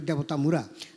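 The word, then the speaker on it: দেবতামুড়া: মানে এটা দেবতা মানে উচ্চারণটা এভাবে করতে হবে দেবতা মুরা দেবতা মুরাটাই পরবর্তীকালে এই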